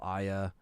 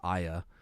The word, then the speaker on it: Aya: So I was going to stream Parasite Eve, but then by the time I leveled up Aya, which is apparently how you say her name, not Aya, it's Aya.